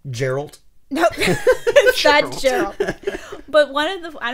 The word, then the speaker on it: Geralt: Geralt. It's Geralt. Fuck you. Screw it. It's spelt that way.